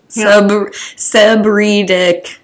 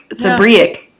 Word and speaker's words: seborrheic: Pronunciation. Bam. Come on. Seborrheic dermatitis. Seborrheic dermatitis. Seborrheic. Seborrheic.